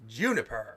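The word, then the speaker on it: JNPR: up and given the team name of JPNR. Pronounced Juniper.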